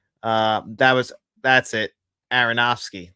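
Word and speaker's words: Aronofsky: Aronowski. That's how you pronounce it.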